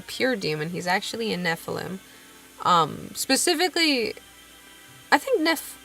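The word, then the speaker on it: Nephalem: he's a Nephilim and I'm going to pronounce it like Nephilim but like you know n e p h a l e m Nephilim so semi is technically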